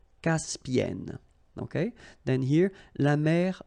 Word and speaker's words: Caspienne: La mer Caspienne. Okay, E and then double consonant here, and it's the same, and N, so it does open the sound here, so it's Caspienne, Caspienne.